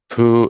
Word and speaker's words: Pugh: It sounds simple. But Joy is Joye, and Poo is spelled Pugh, if I remember correctly.